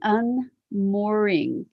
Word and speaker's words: UnMoreing: So today's conversation is, I call it the UnMoreing, and that's spelled MORE, but it is meant to be a double entendre with MOOR, unmooring.